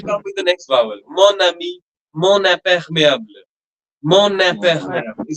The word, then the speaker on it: mon ami: Whatever happens, madam, this mo, when it is followed by a noun starting with a vowel, that okay. n sound, which is otherwise nasal, we pronounce it as mo. That n sound will Mo, become prominent, and we'll link that n sound to the next vowel sound, like mon ami, mon imperméable, like that.